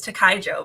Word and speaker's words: Tikyjo: But I think of it as Tikyjo, but I guess it doesn't really matter.